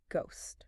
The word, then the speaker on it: ghost: way, is actually how the silent H got permanently inserted into the word ghost.